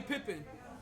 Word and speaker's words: Pippen: It's pimping. But his name is Pippen, not Pimpin. Pippen.